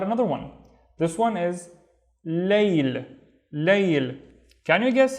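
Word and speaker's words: ليل: This one is layl. Can you guess how we pronounce it in our daily lives compared to, or based on what we have seen in bait and bain?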